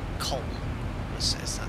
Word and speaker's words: Köln: Is it pronounced Cologne in German? But they say Köln.